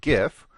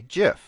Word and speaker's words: GIF: way to say it it's supposed to be Jif like the peanut butter so there's a big internet debate about whether you should pronounce it the popular way GIF or the way it